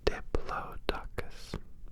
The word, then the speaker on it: Diplodocus: Diplodocus. Docus. This dinosaur was long, but most of it was neck and tail. Its teeth were short and dull. It ate plants. Its name was Diplodocus.